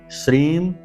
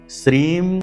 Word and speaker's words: श्रीम: तो मंत्र है ओम ह्लीम श्रीम क्लीम नमः। उच्चारण फिर से ध्यान से सुनिए, क्योंकि ये बीज मंत्र हैं। बीज मंत्र में उच्चारण का ही सारा खेल है। ओम ह्लीम श्रीम क्लीम नमः।